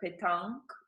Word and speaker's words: Pétanque: So we did a couple of interviews there, and then we had your branch, and Jumper had a petanque, if I'm pronouncing it Yes, right, yes, Pétanque.